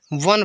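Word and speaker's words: one: ओ एन ई, वन। जैसे ओ है वा, एन से ना, ठीक है, वन पढ़ेंगे, ई साइलेंट रहेगा, वन ए नहीं, वन।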